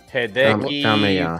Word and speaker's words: Hideki Kamiya: Hideki Kamiya.